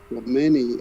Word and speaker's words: Remini: And the host, Lee Romani, I think is how you say her name. It's how it's spelled, Remini.